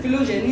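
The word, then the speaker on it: phylogeny: तो हो सकता है, लेकिन आज के टाइम में लोग बोलते हैं कि करेक्ट प्रोनाउंसिएशन फिलोजेनी होता है, लेकिन तुम्हें बेहतर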